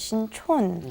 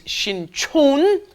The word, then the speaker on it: Sinchon: One is Sincheon, one is Sinchon. Yes. The one by Yonsei University is Sinchon, and the one by Jamsil down south, that is Sincheon.